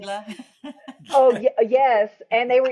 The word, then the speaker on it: Gila: And it was the Gila.